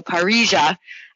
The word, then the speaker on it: parrilla: And I know in Argentina you pronounce the double L's like a J, so Parrilla is how you'd pronounce it.